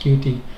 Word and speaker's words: Qt: So it's it's pronounced QT.